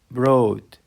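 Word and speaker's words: brought: تت يحصل على برين بروت برين بروت يجلب او يحضر وكلمه بروت الجي والاتش سايلنت لا تنطق تنطق تنطق بعد كده عندنا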